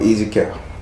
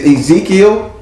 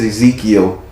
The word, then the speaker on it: Ezekiel: how did she help easy cow it's ezekiel yeah because she just said she told me she said his name is ezekiel she corrected me because evidently